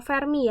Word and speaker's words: Fermi: dengan bisa ditulis juga 1,2 FM atau Fermi ya bacanya, di mana R-nya menjadi 1,2 dikali A pangkat 1/3 Fermi.